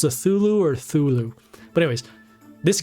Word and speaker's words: Cthulhu: be able to deal damage it's pr it's pronounced cthulhu okay let us give some respect to that